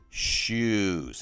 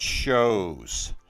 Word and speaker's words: shoes: look at that word it has the vowels o and then an e and yet it sounds like a u shoes it's not shows so this is the